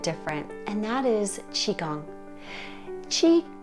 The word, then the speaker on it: qi: and that is Qigong Chi is spelled q i and gong g-o-n-g tea